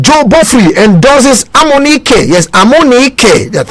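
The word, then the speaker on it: Amunike: Yes, Amonike. That's how it's pronounced.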